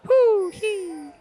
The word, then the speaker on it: Huhi: Bjergsen and Huhi. They lost their beach ball, so now... Yeah. Now they're saying half of CLG's mid laner's name. Huhi. That's 2 syllables, guys.